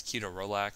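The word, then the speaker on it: ketorolac: amethys um curac uh the actual proper way to say that is keto RAC but again you sound kind of like a pharmacy nerd if you say that so I'll just keep CAC and also totin um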